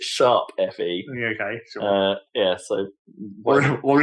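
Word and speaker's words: Tokyo Mirage Sessions ♯FE: Oh no, sorry, it's not hash. You pronounce it sharp FE.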